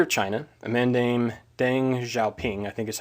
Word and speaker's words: Deng Xiaoping: So the leader of China, a man named Deng Xiaoping, I think is how you pronounce that, and I will say right now,